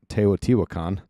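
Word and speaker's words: Teotihuacan: That's the reason why I know how to pronounce Teayot Tiwakan.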